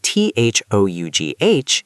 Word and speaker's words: though: In the word t h o u g h, it's o like go though.